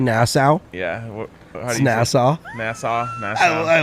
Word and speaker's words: Nassau: and you say nassau yeah nassau nassau national i like that though how do you spell that n-a-s-s-a-u okay so like bahamas yeah like